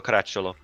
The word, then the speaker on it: Caracciolo: Is it Caracciolo? Is that how you say it? Yeah. Ah, okay. Francesco Caracciolo.